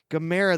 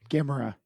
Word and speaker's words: Gamera: Gamera, the giant monsters on ScreamBox. Gamera. It's pronounced Gamera, not Gamera?